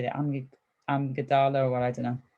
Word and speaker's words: amygdala: And that's to do with something with I never know how to say that, amygdala, or I don't know. How do you say it, Greg? Amygdala.